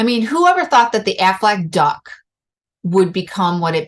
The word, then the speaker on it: Aflac: I really don't know the whole story behind the Aflac duck. Quack rhymes with Aflac. Quack, Aflac.